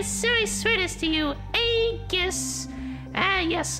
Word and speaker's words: Aegis: I seriously swear this to you, Aegis. Ah, yes, I pronounce it with a hard G.